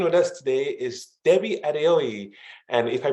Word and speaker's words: Adeoye: My name is Debbie Adeoye, and you did pronounce it well.